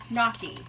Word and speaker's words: gnocchi: seven and a half looked up how to pronounce this and it's knocky so I did pronounce it wrong so once this comes